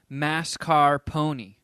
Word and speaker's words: mascarpone: are you in Pony the correct way to say it is exactly how it is spelled mascar Pony I feel like every